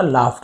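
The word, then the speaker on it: laughed: ना धीरे से हंसी लाफ का लाफ्ट हो गया तो इसे लाफ्ट पढ़ेंगे और कुछ नहीं पढ़ना है यूजी एच ई लिखा है सर और कुछ पढ़ना नहीं है फ उच्चारण होगा धीरे से हंसी वी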